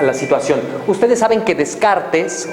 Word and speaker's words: Descartes: situación ustedes saben que descartes o de cart como lo pronuncian adecuadamente decía que lo que somos